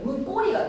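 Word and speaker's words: 문고리: 명사 명사 문과 고리라는 명사 명사가 합성화를 만드는데 뒤에 소리가 결합되는데 있어서 된 소리로 발음이 나 버려. 문 꼬리가 돼.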